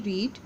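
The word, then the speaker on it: read: Verb है bracket में, रीड 3 novels thus far। Now students, रीड की पास्ट पार्टिसिपल जो फॉर्म होगी वो स्पेलिंग में तो यही है बट प्रोनाउंसिएशन में डिफरेंट होगी, रेड, और रेचल के लिए हम यूज़ करेंगे हैज़।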